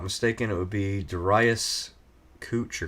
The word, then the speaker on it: Couch: it would be dasas cooch or couch however however you say his name I know I I I always used to say couch then I hear cooch um yeah cooch in